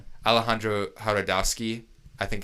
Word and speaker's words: Jodorowsky: Alejandro Jodorowsky. I think it's something. I think the J is silent.